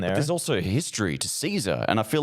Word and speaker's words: Cesar: Caesar.